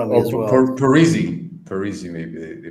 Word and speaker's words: Parisi: I think even Paresi, you know Fabiano Paresi, the left back, No.